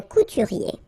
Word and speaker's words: couturier: Remember, O-U goes like OU, okay? Couturier. I-E-R-I-E, okay?